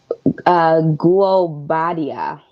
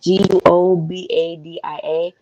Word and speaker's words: Guobadia: gonna try to pronounce it. Guobadia. Yes. So however that's pronounced, Guobadia.